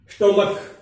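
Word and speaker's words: stomach: जैसे एग्जांपल देखते हैं अपने, स्टोमक, देखो बेंच, ब्रांच, चय आ रहा है, सी एच चय उच्चारण हो रहा है, और यहां स्टोमक कै उच्चारण हो रहा है।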